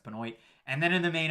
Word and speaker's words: Benoit: It's not pronounced like Chris Benoit, like we pronounce Benoit up in Canada. It's pronounced Benoit.